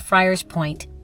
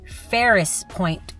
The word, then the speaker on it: Friars Point: But but for some reason I called Friars Point Ferris Point a couple of times in the video.